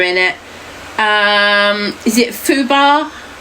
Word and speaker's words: FUBAR: Um, is it Fubar?